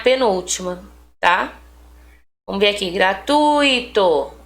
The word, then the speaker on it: gratuito: Gratuito, esse tui aqui é a sílaba tônica, é a sílaba mais forte, tá?